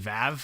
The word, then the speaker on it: VAV: how to pronounce it because I thought it was pronounced Vav.